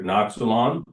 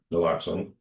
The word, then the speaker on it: naloxone: Going through the package, just one question about this, I won't pronounce it right, Noxalon? Naloxone, Okay, so are you guys, are the fire department administering that?